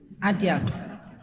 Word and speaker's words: Atiak: He pronounced it very well, Atiak.